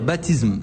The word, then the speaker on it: Baptism: aujourd'hui un nouvel album baptisme je sais pas si je le prononce très bien mon cher vel pardon comment vous dites ça s'écrit BAP TM faut dire baptisme baptisme baptisme baptisme nouvel